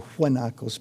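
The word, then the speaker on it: guanaco: You don't want to drive at night in Argentina anywhere near where Guanakos are or huakos probably would be the correct pronunciation, but uh they're big and they have dark faces.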